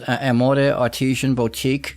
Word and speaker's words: Amore Artisan Boutique: is and uh I believe it's pronounced Amore Artesian Boutique is that correct Gail that is correct yes the word Amore